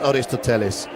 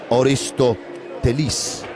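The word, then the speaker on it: Aristotelis: to say Oristoellis and then a Greek guy will say it's not Oristolesis, it's Oristois. But for now I'm going to be pronouncing it Oristoellis.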